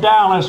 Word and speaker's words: Dallas: the veterinarians Hospital of Dallas rhymes with callus Texas for an emergency